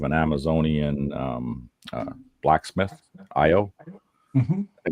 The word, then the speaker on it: Io: It's also This is the first appearance of an Amazonian um uh blacksmith IO. Mhm. I think that's how you say her name because it's just I and O.